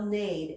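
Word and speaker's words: neighed: talked about that before here the EIG H says a this is how you spell Nate as in what a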